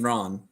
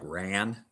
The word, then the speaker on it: Ran: us it looks like ran all right in but in Japanese it's pronounced Ron because it means in Japanese chaos then there's another one